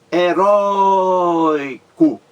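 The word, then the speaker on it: heroico: acento gráfico é entendeu uma palavra heróico heróico três sílabas a mais forte rói-rói heróico a palavra roi é a mais forte temos aí o ditongo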